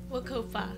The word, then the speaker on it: WCOPA: How do you say that? Wacopa. Oh, Wacopa. Wacopa.